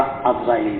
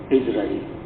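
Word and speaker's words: عزرائيل: আমরা আজরাইল বলি, বলতে সহজ, আসলে সহি হইল ইসরাঈল।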